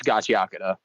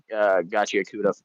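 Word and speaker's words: Gachiakuta: some people go at the uh the pronunciation. Is it gachakura or is it gacha? It's gachakura. I for I was one of the people who was saying gotchauda for the longest time until until I I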